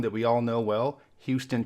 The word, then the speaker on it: Houston: we all know well Houston Texas sometimes Houston Texas but there are small towns with this name in New York and Georgia except there they're pronounced Houston there are two cities